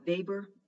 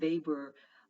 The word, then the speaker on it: Weber: still very relevant today weber it's pronounced with the v because he was german max weber was someone who was